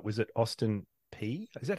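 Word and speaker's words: Austin Peay: job if I've got this right was at Austin P is that how you pronounce it P pronounce it just like it sounds P yeah yeah Austin P and you were a physical education instructor but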